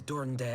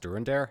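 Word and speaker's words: Durendaire: there must be another way to convince houses dorinder and zamail it's hell it's pronounced during their okay so i said to him alas he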